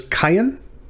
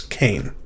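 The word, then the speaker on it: קין: And this yod is not pronounced like a J, is in our English translations.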